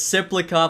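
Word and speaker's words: Tsyplakov: Cal Richie I think will probably make the team as well as Cyclop. I know the tea is silent now.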